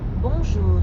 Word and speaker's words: bonjour: In fact, the N isn't really pronounced at all.